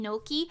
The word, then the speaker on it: gnocchi: I don't know if that's how you're supposed to say it, but Mimi, can you really talk about Italian pronunciation after not knowing gnocchi?